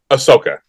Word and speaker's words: Ahsoka: That's where, sorry, I guess, is it Zoku? I can't remember how to say her name. Ahsoka.